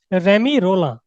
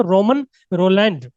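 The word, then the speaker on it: Romain Rolland: इसका जो प्रोनाउंसिएशन है वो भी क्या है, रेमी रोला, जो फ्रेंच टाइटल्स है उनके प्रोनाउंसिएशन डिफरेंट ही होते हैं, ये ऐसा नहीं है कि रोमन रोलैंड।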